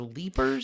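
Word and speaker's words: Leiper's: IP no r apostrophe s but it is pronounced to leapers do you think it was a French guy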